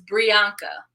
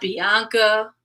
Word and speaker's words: Brianka: My name is Brianka, not Bianca, Veronica, Brianna.